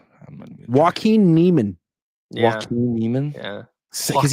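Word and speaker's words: Joaquin Niemann: Joe Quinn. I don't even know how to say the name. Joaquin Neiman.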